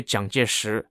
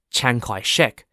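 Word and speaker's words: Jiang Jieshi: many listeners might know zhangjishu as Chiang Kai-shek but in this episode I'll refer to him as Jung which is the Mandarin Chinese pronunciation of his name so why am I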